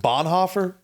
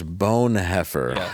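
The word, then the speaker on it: Bonhoeffer: Hofer um what wait I think you're mispronouncing the name I think what you're you're looking for is bone heer okay yeah that makes that makes sense yeah see Pastor spy assassin bone it's like French yeah bone yeah it's like bone like a bone you know the German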